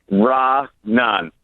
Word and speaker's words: Raanan: bot your name so can you pronounce it correctly for me RA Nan raan okay so I I